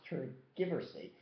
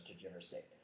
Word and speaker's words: tergiversate: Well, it's not pronounced tergiversate. It's pronounced tergiversate.